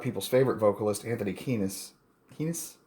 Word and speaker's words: Kiedis: Kiedis rhymes with P.